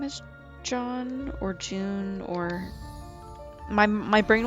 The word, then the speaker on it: Jeanne: I think it's John. Extras. There we go. It says Jeanne, but that's not how you pronounce it.